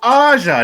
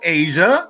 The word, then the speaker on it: Aja: It's Aja, not Asia.